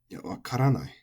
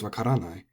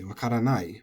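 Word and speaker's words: わからない: So when this becomes wakaranai, our instinct as English speakers is to put the accent on the nai, because that's the long syllable. So we want to say wakaranai, but that's not correct.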